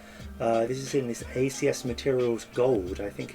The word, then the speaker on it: ACS Materials Au: acs materials gold so gold here obviously refers to the element is also a play on words uh because this is